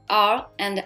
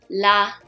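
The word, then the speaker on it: ら: l so let's say it's like in the middle of r and l your tongue slightly touches the back of your front your front teeth when you pronounce so the sound is gonna be la li le le lo some people want to pronounce like ra ri bro that's wrong so you need to pronounce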